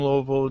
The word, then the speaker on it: Louisville: I need everyone to recognize the correct pronunciation of the word or the city. Louisville. Put a golf ball in your mouth and say it.